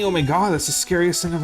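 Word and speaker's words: ZOMG: now annoying to me the Z doesn't actually mean anything so Z OMG is still pronounced oh my God because the Z literally doesn't mean anything can you the E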